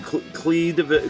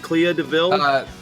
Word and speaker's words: Clea DuVall: You've got how do you pronounce her name? Clea DeVille? Clea Duvall.